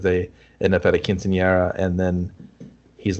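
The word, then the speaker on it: quinceañera: the subjects because they end up at a quinceanera and then he's like oh let's dance and they talk very hilariously explain what a quinceanera is that's how you say it but yeah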